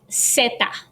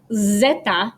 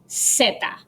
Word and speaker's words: zeta: The Z in Spanish is pronounced zeta. So it's not zeta, but zeta. It's pronounced like the English S sound.